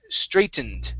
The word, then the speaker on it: straightened: most cases as well when you have a g h together uh the g and the h do not make a sound okay as with this